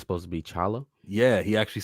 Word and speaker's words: T'Challa: Anyways, I saw actually related to apostrophes that T'Challa's name isn't really T'Challa. It's supposed to be just Chala.